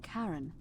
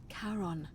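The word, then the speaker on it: Charon: just as you described red it only your pronunciation is a little off the name you heard wasn't Karen it was c h a n as in karon the Fairman of the dead I'm dead Kon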